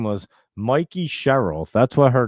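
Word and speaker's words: Mikie Sherrill: And I didn't even know her name was Mikey Sherrill. That's what her name is. I thought it was Mickey Sherrill. And my wife was like, it's Mikey Sherrill. What the heck are you even talking about?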